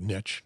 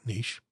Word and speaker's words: niche: And I pronounce that word niche, not niche, but do it whatever you want.